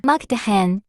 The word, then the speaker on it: Mukdahan: Thailand has this cool border town called the Mactakan that sits right along the Mekong River. I'm gonna put the correct pronunciation from AI of this town. Mactahan.